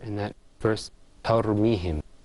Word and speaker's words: ترميهم: But that first letter in that verse, ترميهم, this is a ta. Okay, not a ta. Okay. So try to make it more clear. ترميهم.